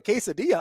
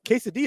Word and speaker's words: quesadilla: that give you like the Double L and it's pronounced like a y I thought it was